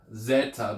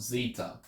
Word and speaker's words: zeta: will change how it sounds um and it's pronounced Zeta not Zeta so that e sound and that e sound